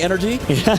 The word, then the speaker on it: NRG: It's supposed to be energy, but I mean, you give us you you give us an acronym NRG. We're going to say NRG over and over again, guys.